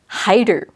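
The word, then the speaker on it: 入る: Versus hairu, it's just ru at the end. It's not ha-i-ru. The hi part is in the kanji.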